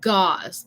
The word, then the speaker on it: gauze: Gauze. Eso como rima con la palabra para pata de animal, como pause o pausa or pause. Eso sería gauze.